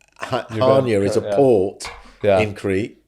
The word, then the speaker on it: Chania: So our olive oil comes from a third generation family farm in Crete, on the island of Chania. I think it's pronounced Hania, but it's Hania is a port in Crete.